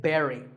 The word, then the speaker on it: buried: usually an important person is buried we say Barry now when I first